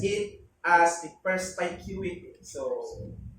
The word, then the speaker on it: perspicuity: So there are two kinds of pronouncing this depending on what region you are in. But the Philippines is so influenced by American way of English, so it's perspicuity.